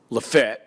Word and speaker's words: Lafayette: We have a town close to where we do the show called Lefett, but it's spelled Lafayette.